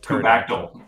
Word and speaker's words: kubectl: But well, the way Layla pronounces it is kubectl, like Kubactyl. Oh, okay. Kubactyl. Like Kubactyl. the dinosaur.